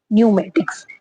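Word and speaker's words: pneumatics: हमेशा साइलेंट रहता है एन या एस के पहले अगर पी आता है तो वो भी क्या है हमेशा साइलेंट हो जाता है जैसे न्यूमेट्रिक तो यहां पे क्या है पी आया है एन से लेकिन क्या है पी की कोई प्रोनाउंसिएशन नहीं है ये साइलेंट हो चुका है तो स्पेलिंग क्या है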